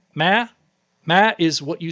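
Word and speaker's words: 妈: You say ma, right? Ma. That means mom. You say it wrong, it means ghost. If you say it wrong another way, it means horse. If you say it wrong another way, it means hooker.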